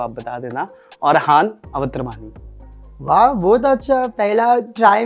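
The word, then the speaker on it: Awatramani: वैसे तो पहले इनका रियल नेम हम आप सभी को बता दें, अगर मैं गलत प्रोनाउंस करूं तो आप बता देना. अरहान अवत्रमानी.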